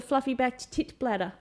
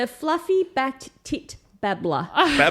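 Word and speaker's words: fluffy-backed tit-babbler: I did start an animal dive on a bird called the fluffy backed tit bladder just because of the name.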